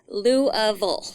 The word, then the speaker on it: Louisville: Kentucky uh Louisville Louisville now you got to say it right you say it you said it right I did not yeah most people in this area say Louisville Louisville I know it's Lou Louisville it's louville Louisville there you go so you you you